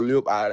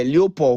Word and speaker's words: Leopold: Is it King Lopo or Leopard? I don't know how to pronounce his name. I used to call him. Yes. Leopold. Yeah, Leopold.